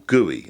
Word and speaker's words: GUI: videos the desktop is a graphical user interface GUI or guey as it's pronounced when you finished investigating